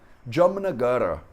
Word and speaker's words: Jamnagar: Só que como ela termina com um A curto, a gente pronuncia isso um grau abaixo do curto, que é nenhum A. Então a gente fala Jamnagar. Jamnagar. Como se fosse um R sem nenhuma vogal junto.